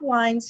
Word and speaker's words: Wiens: wrong correctly Leon said is it Wiens that I say it wrong again our Weir's after its wine remember wine we have Bob wines here from insights 3a